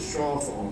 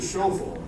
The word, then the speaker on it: chauffeur phone: This little guy in the back here is often mispronounced or misrepresented as a shaw phone, spelled S-H-A-W, when in reality it's the show phone or chauffeur phone.